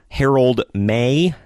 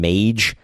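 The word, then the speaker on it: Harold Meij: page I called him mage I didn't know the J was silent I've never seen the name before so there you go but Herald May came out to let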